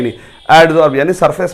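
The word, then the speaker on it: adsorb: Catalyst के surface पे एडजॉर्ब होता है। क्या होता है बच्चों, ध्यान से सुनो, रिएक्टेंट कैटलिस्ट के सरफेस पे एडजॉर्ब, एब्जॉर्ब नहीं बोल रहा हूं, एडजॉर्ब, एडीएस एडजॉर्ब, स्पेलिंग लिख देता हूं मैं, एडजॉर्ब।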